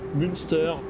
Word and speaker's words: Münster: Alors là, je crois qu'ils l'ont écrit en anglais, mais normalement, il y a le tréma sur le umlaut. Donc normalement, c'est bien Münster et Osnabrück.